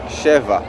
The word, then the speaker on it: Sheva: important to mention that to pronounce the real name of the band is sheva the number seven and